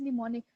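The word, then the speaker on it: mnemonic: है okay what is निमोनिक इसमें जो एम है वह नीचे वाले यह काम जो है वह साइलेंट है को भी मोनिक अलसो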